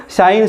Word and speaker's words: sign: तो ये साइन की आप स्पेलिंग देख रहे हो, SIGN, शाइन। इसको क्या बोलते हैं हम, साइन।